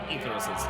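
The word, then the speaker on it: Etheirys: I'm saying Aetherus's. It's like, it sounds like ether.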